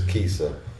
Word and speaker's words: CISA: me or you HS the pronunciation is Kissa stands for crazy inst style artist we have from Northwest